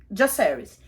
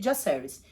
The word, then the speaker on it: Jacaerys: E as 2 pessoas falaram Jacaerys, que foram o Viserys e o Criston. Os 2 chamam ele de Jacaerys. Então, pelo visto na série, a pronúncia é essa, e eu vou usar